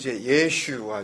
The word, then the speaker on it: 예슈아: 더 정확 하게 발음 하자면 , " 예슈아 " 입니다 .